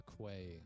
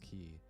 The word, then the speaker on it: quay: I pronounced it as a key or no I said a quay wall but it's pronounced key but I I did